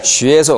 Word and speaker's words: 学: 学에서 어디에 가장 강세가 있겠어요? X, U, E니까 A가 가장 입을 많이 벌리죠? 学 아니고 学. 学. 갈수록 힘을 주십시오.